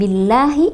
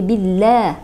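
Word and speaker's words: بالله: Alquran ada yang membacanya itu ketika melafalkan Billahi itu tidak jelas jadi bila itu ya seharusnya jelas Billah karena facg itu berarti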